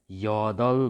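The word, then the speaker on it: 여덟: त्यसै गरी र ब आएको छ। अब यहाँनिर फाचिममा फेरि ल भनेर यसलाई उच्चारण गरिन्छ। यहाँनिर के भयो त? त्यसो गर्दा यदल भयो।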